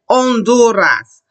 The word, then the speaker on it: Honduras: look at it, we don't ever say it. We say the sound that is after it, which is, I say the O. I say Honduras.